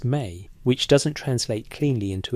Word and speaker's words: me: The Sumerian term is me, pronounced may, which doesn't translate cleanly into English.